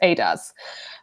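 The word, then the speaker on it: Eadaz: Her full name is pronounced Adas.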